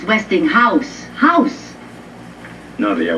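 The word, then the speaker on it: Westinghouse: where did you get this Weston GA catalog Weston Gus look it's not Westing Gus it's westing house house no they are w Gus Gus how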